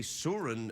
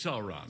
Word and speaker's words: Sauron: the books that's the soren uh siren soren so wherever you pronounce it how do you pronounce it it's sauron so sorry oh sora no